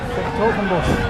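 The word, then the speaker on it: 's-Hertogenbosch: s-Hertogenbosch, the full name. I've been wondering how to pronounce that. s-Hertogenbosch. s-Hertogenbosch.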